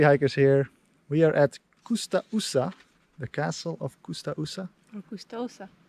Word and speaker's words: Coustaussa: Yes, Coustaussa and not Coustaussa.